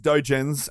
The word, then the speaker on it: dojin: exactly you just search dojins uh you can find her yeah don't don't think like homer think doe like deer but you know what